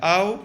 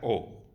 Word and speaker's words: au: No se pronuncia au, se pronuncia o, ¿vale?